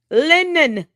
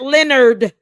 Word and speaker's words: Lennon: Lennon, not Leonard, Lennon.